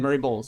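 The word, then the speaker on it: Murray Bowles: And it kind of reminds me like uh Murray BS, you talk about him a lot. Yeah. Right. Is that that's how you say his name? Murray Bulls.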